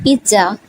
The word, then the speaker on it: pizza: first is z or the first z turn into T sound and you will pronounce it like piz Pizza I ate pizza for